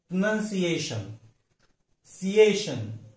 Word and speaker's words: pronunciation: जब कोई शब्द ION से समाप्त होता है या एंड होता है तो उसका प्रोनाउंसिएशन में जो स्ट्रेस मार्क दिया जाता है वो second syllable from the last. अब ये प्रोनाउंस PRONUNCIATION, हम उसका गलती से प्रोनाउंसिएशन ऐसा उच्चारण करते हैं, लेकिन उसका उच्चारण करेक्ट क्या है, प्रोनाउंसिएशन, सिएशन। ये C सेकेंड सिलेबल है, ION ये लास्ट सिलेबल है, ION फर्स्ट और CA ये सेकंड, तो उसका स्ट्रेस मार्क जाता है C पर, प्रोनाउंसिएशन।